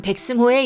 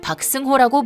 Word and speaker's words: 백승호: 또 장내 아나운서는 경기 중 대표팀 주장 백승호의 이름을 박승호라고 부르는 등의 모습이었습니다. 특히 백승호는 과거 자카르타 팔렘방 아시안게임에서 2연패의 주역이 됐던 손흥민처럼 주장으로 나서 선수단을 이끌었습니다.